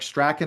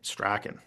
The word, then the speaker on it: Strachan: By the way, everybody, if you call him Strachan, Strawn, or Strand, it's all right. That's what he told me. He says it could be any one of the three. But the real pronunciation apparently Strachan, because he's from Scotland, or at least his background is.